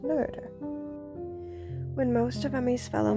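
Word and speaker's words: Noether: superpowers look actually I believe it's pronounced nerder when most of themes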